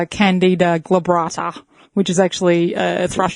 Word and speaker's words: glabrata: Candy Labrata. No, glabrata.